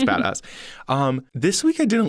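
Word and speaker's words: Joey Bada$$: by taylor parks featuring joey badass i think is how you say it it's bad a dollar dollar sign dollar sign so i'm assuming it's badass um this week i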